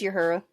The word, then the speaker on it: Uhura: Yeah, like how did you pronounce Uhura just a little while ago Uhura. from Star Trek? Uhura? Uhura. It is Uhura.